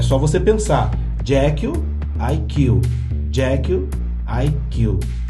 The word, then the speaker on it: Jekyll: Jekyll tem um nome que soa muito parecido com a pronúncia da expressão eu mato em inglês, que é I kill. Aí é só você pensar, Jekyll, I kill, Jekyll, I kill.